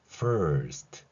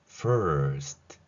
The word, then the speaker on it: first: 그 상태에서 fur 여기까지 발음해 보겠습니다. fur 그리고 시옷과 티읕을 발음하겠습니다. 이 소리 호흡 이렇게 한 번의 호흡이 이루어진다면 이제 fur까지는 여기서 끝나고 스하고 트를 발음할 차례입니다. first 이렇게요.